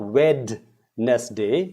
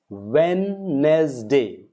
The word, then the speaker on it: Wednesday: So, next, silent sound in D. Now, many people use this word Wednesday. It's not Wednesday. It's Wednesday. Wednesday. D is not there at all.